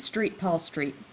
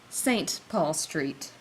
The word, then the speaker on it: St. Paul Street: This isn't Street Paul Street. It's St. Paul Street.